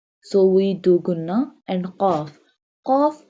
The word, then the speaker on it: ق: Qaf pronounced from the root of the tongue touching the soft part of the palate.